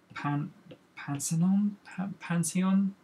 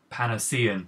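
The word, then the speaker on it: Panosian: And whereas I have a very, like, I don't know, ill view of the big two, as it were, Johnny says it's pronounced Dan Panacean, that's it.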